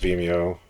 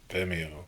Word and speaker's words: Vimeo: I believe it's pronounced Vimeo. Vimeo. It's the word video with an M.